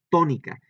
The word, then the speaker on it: tónica: Le estoy dando mayor énfasis o más fuerte aquí en la sílaba to, y entonces por eso lleva un acento.